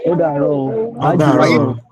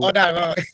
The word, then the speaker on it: Ọ̀dàrọ̀: Oda Ọ̀dàrọ̀. Oh, Odaro or Idaro. Anyone? Ajilayo. Ọ̀dàrọ̀. Ajilayo. Okay, Odaro.